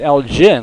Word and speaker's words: Elgin: but they pronounce it l gin like it's a j here in texas it's elgin with the hard g two one pitch that's